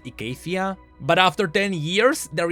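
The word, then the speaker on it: Icathia: because atrox is being called the blade of ecaffia the blade of Acadia has told we see no matter it will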